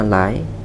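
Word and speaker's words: 来: Trong tương trung phát âm là lái, nghĩa là đến.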